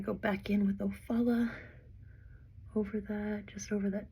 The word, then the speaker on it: Ofala: this dark orange color it's called ofala that's how I would